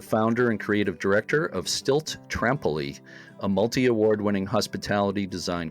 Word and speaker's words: Stylt: So I'm speaking today with Erik Nissen Johansen of Stylt. Am I pronouncing that right, Erik? Stylt? Yes, Stylt, Okay.